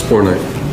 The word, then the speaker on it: bornite: Bornite, am I pronouncing that right? Which one? Bornite. Yep, it's Bornite.